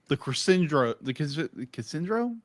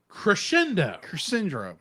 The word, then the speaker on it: crescendo: Crescendo. Cassandro. I'll say it wrong all the time. I'm sorry. I'm Crescendo. Crescendo. Crush. Shindo. Crush Like Shindo. you crushed your shin.